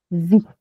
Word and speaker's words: vous: अब कोई इस पे गेस करेगा इसका क्या प्रोनाउंसिएशन होगा? ब्लू। बहुत बढ़िया, नू। और इनका मतलब है वी, ठीक है।